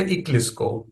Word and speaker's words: IKLSCO: I generally pronounce it as a Eclipse, right?